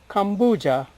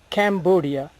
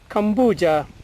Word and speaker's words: Cambodia: came to be called Kambuja and later Cambodia. Unfortunately, some people mispronounce it as Cambodia. There is nothing to do with the Cam here, it is Kambu.